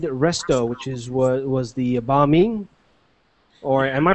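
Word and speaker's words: bánh mì: So the next thing that we had to eat was from Fid Resto, which is was the banh mi. Or am I pronouncing that wrong? The banh mi.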